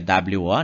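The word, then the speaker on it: を: a partícula o né a gente pronuncia o mas é o som é o mais a partícula é wo né Nós utilizaremos essa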